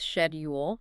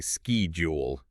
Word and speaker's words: schedule: Well, take schedule. British English often goes with schedule Whereas Americans say ski jewel or advertisement.